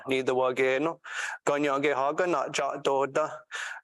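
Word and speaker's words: Kanien'kéha: So the language you just heard was Ganya Geha, which you pronounced so perfectly, Ganya Geha, and that's Mohawk language if you've heard it.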